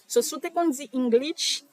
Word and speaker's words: English: c'est in ça et pour lich lich là raison qui fait mo souligner SH là c'est parce que nous tendance met T là pas T son OK English il pas correct moi c'est English c'est comme ça il prononcé et puis créole encore